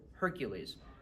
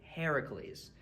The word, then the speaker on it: Heracles: English people mispronounce is Hercules that's the Roman pronunciation the Greek pronunciation is actually Heracles so the Greek pronunciation